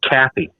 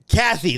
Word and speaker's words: Cathey: It's Cathey. Kathy, that's Kathy, yes.